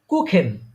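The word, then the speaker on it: Kuchen: আপা এটা মনে রাখেন যে থাকলে কিসের মত উচ্চারণ হবে খ যেমন কুখেন কু কুখেন কুখেন মানে কি কে ঠিক আছে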